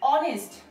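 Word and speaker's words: honest: এখানে এইচ কি উজ্জ্ব রয়েছে তাহলে এই ও অনেস্ট অনেস্ট এর উচ্চারণ হনেস্ট না হয়ে অনেস্ট হচ্ছে সো সেই কারণে এখানে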